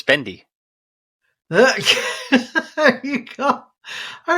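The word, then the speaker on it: भिंडी: best gymnast because it's bendy look there you go I really like that yeah so for those non-hindi speakers out there yeah uh bendy or Bindi is the pronunciation that's the uh what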